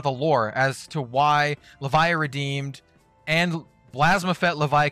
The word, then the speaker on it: Levia: for levia why and it is pronounced levia we have seen it in the in the the trailer now where they they say levia um why this